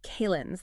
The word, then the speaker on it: calends: It's almost described as a calends, that's C-A-L-E-N-D-S, pronounced like calendar without the R and with the Z sound at the end, sort of like a foundational day before the first Sunday.